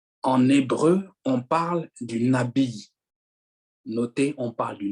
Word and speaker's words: nabi: En hébreu, on parle du nabi. Notez, on parle du nabi. Ça s'écrit N-A-B-I-Y.